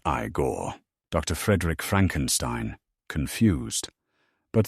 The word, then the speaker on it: Igor: No, it's pronounced Igore.